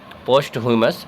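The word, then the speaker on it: posthumous: और इसका प्रोनाउंसिएशन सारी मैंने गलत कर दिया, इसको बोलेंगे पोस्ट ह्यूमस।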